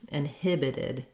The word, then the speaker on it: inhibited: more like a d inhibited inhibited the stress is still the same with the main length and stress on the hib syllable the second syllable inhibited in the ipa i